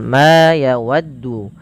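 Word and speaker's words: ما: Perhatikan di dalam lafal ma yawaddu. Pada lafal ma ini panjangkan huruf ma sepanjang 2 harakat karena ia memiliki huruf alif.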